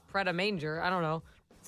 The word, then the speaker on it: Pret A Manger: I'm like, Pret a Manger. I don't know. That's how it's spelled. I went the phonetic route. Someone said it's manja. It's French.